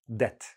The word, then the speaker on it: debt: Notice I don't pronounce the B debt.